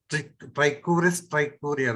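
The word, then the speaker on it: Trichuris trichiura: Trichuris trichuria, that is the way it should be pronounced.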